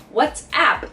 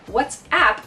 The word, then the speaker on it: WhatsApp: words in this case what's app sounds like what's up but what's app is